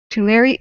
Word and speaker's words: Tulare: please by the way the e into air is pronounced oh it is to larry oh like tularemia the disease whoopsie i'm sorry um like lake tully okay sorry about that